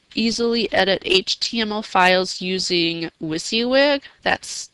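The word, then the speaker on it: WYSIWYG: can also you easily edit HTML files using wiy wig that's spelled Wy s i Wy G what you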